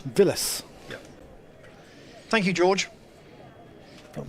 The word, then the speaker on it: Vilas: so far weren't little can you please pronounce Vilas correctly he's not related to the former Argentinian tennis player phonetically v i y whereas yeah she's a proper L Villas yeah thank you George